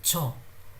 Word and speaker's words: 저: So cho is this j. So this is neither j nor j nor ch. This is somewhere in between.